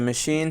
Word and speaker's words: machine: Sewing machine is a machine for sewing. The stress is on S, sewing, and machine stress is on CH.